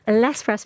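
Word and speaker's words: L'Express: French magazine that just not pronouncing the X in that is that correct that is correct not Les what a fool I've been I know didn't want to correct you Les press magazine which has had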